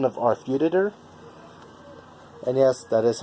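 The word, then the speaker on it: Arfeudutyr: 1 of Arfuditor, and yes, that is how you say it, Arfuditor.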